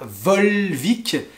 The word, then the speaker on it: Volvic: le perrier et vous avez aussi de la volvic la volvic et parabole biblique la volvic c'est